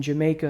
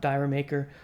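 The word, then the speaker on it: D'yer Mak'er: because Dancing Days in Jamaica as it's pronounced not Dyer maker or to my least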